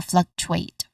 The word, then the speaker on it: fluctuate: When it comes to pronunciation, there are fluctuate. Actually, there are three syllables that we are going to focus here. Although it sounds like there's two syllables only, but here there are actually three syllables.